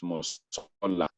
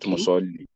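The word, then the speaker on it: مصلى: So what you have there is musalla, not musalli. So it's like you are pronouncing that alif as ya.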